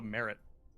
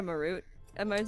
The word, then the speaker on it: Marut: I thought it was called a merit. We call it a Marut.